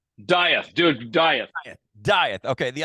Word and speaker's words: Dieth: pronouncing that right? Dieth, dude, Dieth.